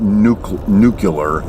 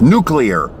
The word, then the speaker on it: nuclear: Not nuclear. It's nuclear. Say it right. Get it right.